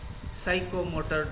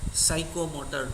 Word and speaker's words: psychomotor: domain, affective domain and psychomotor domain. Here P is silent.